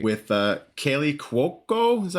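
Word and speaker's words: Kaley Cuoco: With Kaylee Cuoco, is that how you pronounce her name?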